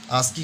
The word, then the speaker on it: ASCII: and written as ASCII, इससे हम लोग क्या लिखते हैं, ASCII, and pronounced as ASCII, है ना। इसे हम लोग जो है आस्की का जो फुल फॉर्म